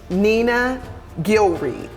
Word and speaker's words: Nena Gilreath: Nena Gilreath. Did I pronounce that right?